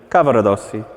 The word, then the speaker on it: Cavaradossi: How do you do it? Cavaradossi. Cavaradossi. You just flip the R rather than a roll.